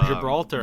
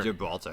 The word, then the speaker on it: Gibraltar: Oh, Gibraltar. Gibraltar.